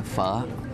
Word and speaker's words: pho: It's spelled P-H-O, looks like pho, but it's pho, the big steaming bowls.